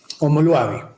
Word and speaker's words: omoluabi: Homo Luavi. Primero, ¿cómo se escribe? Que lo voy a escribirlo en el chat. Se escribe O-M-O-L-U-A-B-I. Homo Luavi, como suena.